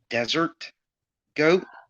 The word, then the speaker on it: DzrtGoat: my name is yeah i know it's pronounced desert goat oh i'm sorry because